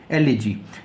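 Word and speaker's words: elegy: next शब्द है लेकिन इसका जो उच्चारण है काफी ट्रिक होता है ल ए जी इसको काफी सारे लोग ऐसे पढ़ने हैं लेकिन सही उच्चारण क्या है ल ए जी ल जी इसका मतलब है शोक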